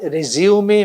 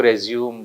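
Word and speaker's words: résumé: इसके बाद रेज्यूमे making. अब आप सोचेंगे रेज्यूमे क्या है? RESUME, और अक्सर हम में से सारे लोग इसको रेज्यूम बोलते हैं, जबकि ये सही वर्ड, इसका प्रोनाउंसिएशन जो है रेज्यूमे है।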